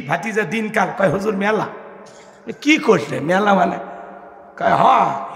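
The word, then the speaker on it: مُلْك: আর যদি আপনারা ওইভাবে বলেন বাংলা ভাষায় মুলুক বলে না, রাগ করতেছেন? মুলুক, মুলুক। আর সঠিক উচ্চারণ করতে হলে কিভাবে? মুলক।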